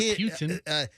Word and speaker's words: Putin: They actually had it phonetically spelled out, and it's Poo. P-O-O. I mean, that would be right. Poo. Oh, he's Poo, all right. It's not a pew. It's not Putin. P-O-O dash T-I-H-N.